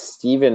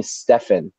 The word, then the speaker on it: Stephen: And in school, like I had substitute teachers and they would call me Stefan. They would be like, is there a Stefan there? And I'm just like, because it's spelled the same way. So eventually I was just like, yeah, my name's Stefan.